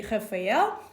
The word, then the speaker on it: Rafael: In Portuguese would be Rafael.